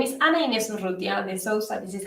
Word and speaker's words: Ana Inés: so kind um so well my name is Anna Anderson this is how you say my name uh